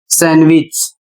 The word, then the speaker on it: sandwich: तो मुख्य कारण है एन के बाद डी आया है, और जब कभी एन के बाद डी आता है तो डी साइलेंट हो जाता है।